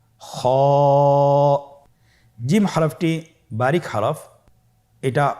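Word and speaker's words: خاء: খ হফটি হল মোটা হারাফ। উচ্চারণের ক্ষেত্রে মোটা হবে।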